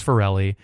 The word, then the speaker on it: Farrelly: the number for Ellie so my last name is Farrelly and the phonetic it's phonetically for Ellie so all my like